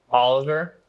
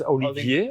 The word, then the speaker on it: Olivier: Oliver, am I saying it correctly? Is it incorrect? How do you pronounce it? That's Olivier.